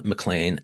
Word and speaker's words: McLean: I'm Brian Cop and we're with critic Kellum Mlan.